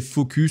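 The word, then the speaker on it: Fooocus: simplifiée de stable diffusion c'est focus ça s'écrit FO o o C US s ça se trouve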